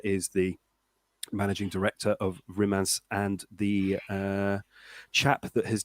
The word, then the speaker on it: Rimac: Now, I thought that Rimac was pronounced Rimac until recently I found out that it is actually pronounced Rimac. Rimac. Yeah, it's because it's Croatian.